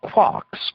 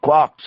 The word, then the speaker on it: quark: instead of a t it is usually pronounced to rhyme with luck there are a number